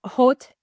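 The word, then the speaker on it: haute: First one up, it is my ban hot. I love the word hot. Uh, in French it's because they don't pronounce the h, but it looks like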